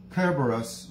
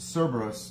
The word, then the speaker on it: Kerberos: often he is posing with kerberos which is mispronounced cerberus the multi-headed dog that